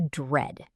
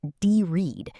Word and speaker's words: dread: Word number 1, to dread. To dread. Let's look at the pronunciation first. It starts with a DR blend. It's not de-read, it's one syllable.